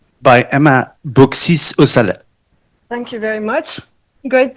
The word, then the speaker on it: Emma Beauxis Aussalet: the ultimate declarative language you could say by Emma Bisale. Thank you very much. Great pronunciation of my name.